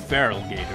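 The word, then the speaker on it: Feraligatr: Probably pronounced Feral Gator, isn't it? Because it's feral in its name.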